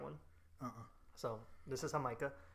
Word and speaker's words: Jamaica: It is not Jamaica. It's not Jamaica. It's Jamaica. And it's okay. It's spelled the same way as Jamaica.